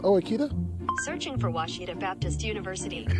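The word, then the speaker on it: Ouachita: Is it pronounced Oachita? Searching for Washita Baptist University. Back in Texas, everybody pronounces it Wichita, but really, it's Washita.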